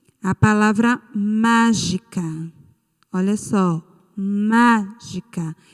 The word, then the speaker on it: mágica: Olha só, mágica. E qual é a sílaba tônica da palavra mágica? Vocês mesmos envolveram o má. Está correto. A sílaba tônica é o má. E é a antepenúltima sílaba.